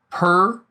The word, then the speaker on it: pr: And this is pronounced per.